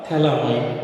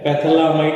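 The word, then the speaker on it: phthalimide: तर यांच्यामध्ये काय सायलेंट आहे, हे PH सायलेंट आहे ना, थॅलामाइड म्हणतो आपण, पॅथॅलामाइड नाही म्हणायचं.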